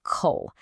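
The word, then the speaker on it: 口: That's pronounced coal and it means mouth.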